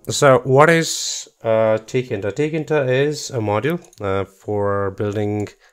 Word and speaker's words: tkinter: to pronounce it but just as you see it that's how you pronounce it it's called tkinter all I didn't make